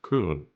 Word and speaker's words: Köln: the city of Köln, which is also Cologne, but the German pronunciation is Köln.